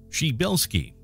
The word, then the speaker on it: Przybylski: On the day of his arrival at Mount Stromlo Observatory near Canberra, when his colleagues heard his name pronounced a bit like Przybylski, there was a pause, after which someone announced